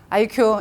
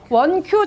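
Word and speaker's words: 1Q: IQ. 이거는 100% 나오는 답이야. 이게 숫자를 잘 보시면 이게 I가 아니라 원입니다. 원Q 초간편 건강보험이에요.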